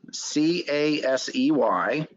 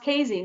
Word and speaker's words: Casey: Casey, C-A-S-E-Y. Okay, pronounced Casey, not Casey.